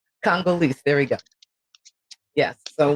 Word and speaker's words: Congolese: Condoleezza? Congolese.